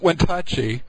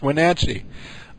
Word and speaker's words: Wenatchee: It's not Wentachi, which is how he keeps pronouncing it. It's Wenatchee.